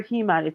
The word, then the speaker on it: Heman: It's Amon or Heman. It's spelled like He-Man.